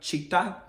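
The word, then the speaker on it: Citta: Before we started practicing, I wanted to talk about Chitta. It's spelled C-I-T-T-A.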